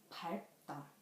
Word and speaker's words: 밟다: For example, 리을 and 비읍, 밟다, 밟다. The final consonants of 밟 is 리을 and 비읍. So it has two sounds, L and P.